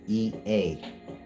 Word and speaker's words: Ea: E A the one y'all call Inky. His name is EA and EA is pronounced E a.